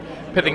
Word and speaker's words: Pithing: have a for suggest for Tacoma but uh pithing needle is pronounced pit pit pit like myth yes Cardona